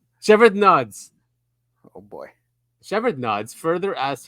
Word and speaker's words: Shevardnadze: How do you pronounce that name? Shevardnadze.